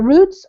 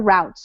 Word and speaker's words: routes: you said it fine you can say this word either roots or routes so either one is acceptable and used they've been either cancelled